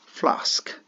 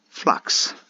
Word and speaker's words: flask: next word flask yeah some of us say it flux same goes for like ax or tax okay so we can apply the same Theory by saying FL and flk eventually FL FL FL FL flk flask flask see it works ah oh one very